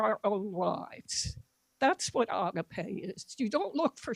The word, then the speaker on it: agape: The Greek word for that in this passage is agape, or you may hear it pronounced agape.